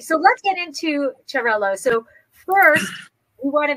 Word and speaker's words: Xarel-lo: it in in spanish is is no is charilo charlo in spanish in catalan is charaleux is quite similar but finnish in oh or